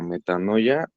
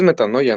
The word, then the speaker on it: metanoia: sobre este tema de la metanoia si es metanoya no así se pronuncia s es como como